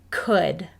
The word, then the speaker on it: could: does not play fair the oh you vowel team does not say ow like we would expect let's say this word again together could the next word is wood you can hear that